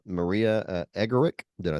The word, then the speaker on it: Emmerich: So all right, Maria Emmerich, did I say it right? That's all right. Emmerich, it's okay.